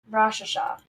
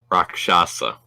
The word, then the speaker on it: Rakshasa: It was a Rakshasha. Rakshasa, by the way.